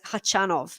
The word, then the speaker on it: Khachanov: i went uh the atp website where he pronounces it and he says hachanov so i'm i'm not sure whether to say hachinov or hachanov but yes maybe if you could